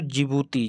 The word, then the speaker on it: जिबूती: देश और बचा दोस्तों जिबूती जिसमें डी पहले लगा होता है लेकिन डी साइलेंट रहता है तो जिबूती की राजधानी